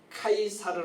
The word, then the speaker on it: 카이사르: 수 너였어 가이사 악을 쓰도록 가 이사를 원래는 카이사르 라고 발음하는 데 요 타이 쌀 영어 발음으로는 시작하고 해서 c0 시저 라는 말은 좀 많이 들어보셨죠 예 그렇게 야하고